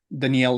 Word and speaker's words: Daniel: just telling me that in Portuguese um your name has a completely different pronunciation would you like to to share that yes the sound is a little bit different and if you're going to try and say it in Portuguese will be Danielle so again just